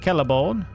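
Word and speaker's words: Celeborn: Kelleborn. Spelt with a C. Pronounced as a K. Like, carrot.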